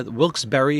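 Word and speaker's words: Wilkes-Barre: video six bucks yeah Wilkes Berry is how it's pronounced Pennsylvania it's kind of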